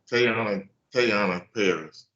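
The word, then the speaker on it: Teyonah Parris: Is it Tiana Paris or? Yeah, Tayana Paris.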